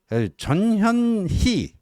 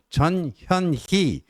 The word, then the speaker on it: 전현희: 전현희 발음 정확하게 해야 됩니다. 전현희 이 의원님께서 최고위원도 하시죠.